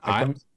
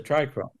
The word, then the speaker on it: trichome: is a trichrome. This is a non-granular stalk. When the No, little we know capital what head it is is. on, It's just called a how it's said. trichome.